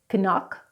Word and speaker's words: knock: Whenever you have K and N together, the K is not pronounced, like in the words ni or no. It's not kni, it's not kno, it's ni and no. Knife, knife. Knitting, knitting. Knock, knock. Thank you so much for joining me today.